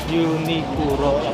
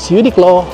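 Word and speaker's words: Uniqlo: Anong pronunciation dito sa Uniclo? Unicuro po. Ito na lang tayo sa Unicuro also known as Uniclaw.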